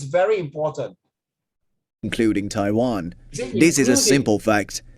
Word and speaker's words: Taiwan: You don't pronounce it Taiwan. More than one syllable if it's Taiwan, no, Taiwan. Okay, but China is China.